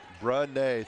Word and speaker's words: Brene: It is Brene Scott. The 2 E's are pronounced like an A. Brene, thank you.